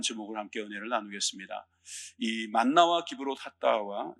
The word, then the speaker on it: 기브롯 핫다아와: 오늘 말씀을 가지고 만나와 기브롯하와라는 제목을 함께 은혜를 나누겠습니다.이 만나와 기브롯 핫다와 좀 발음도 어렵고 그런데 여러분들이 끝날 때쯤이면 입에 좀 붙었으면 좋겠습니다.